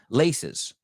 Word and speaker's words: laces: Ahora, en plural, laces. Dos sílabas, fíjate.